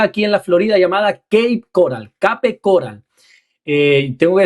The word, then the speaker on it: Cape Coral: Eh, tengo que decir esto porque para mí la pronunciación como es rara, yo pensé que el primer día cuando me dijeron K coral era K e I. No, no, no, no es cape que me dijeron, "Aprende inglés, mi hijo", me dijeron.